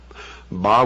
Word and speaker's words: Baal: the ancient worship of Baal our bail is some pronounce it bow was the son el